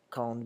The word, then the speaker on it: quand: it's quand by itself, the end is pronounced like a D sound, like a D. When quand comes before a vowel, such as in quand, the D changes to a T sound.